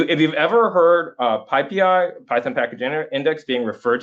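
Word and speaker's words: PyPI: Um they get mad by the way if you say pi pi. Uh so you know it's tempting to say it's spelled py pi. It's tempting to say pi pi but you want to say pippi.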